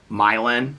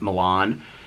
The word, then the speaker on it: Milan: And they call it Milan, but it looks just like Milan.